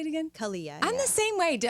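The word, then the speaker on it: Calia: Kalia.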